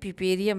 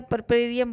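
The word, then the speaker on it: puerperium: अब देखिए पिपेरियम में क्या होता है। पिपेरियम का मतलब होता है, परपेरियम बोलते हैं इसको, परपेरियम भी बोलते हैं, पिपेरियम भी बोलते हैं, ये अपना अपना प्रोनाउंसिएशन है।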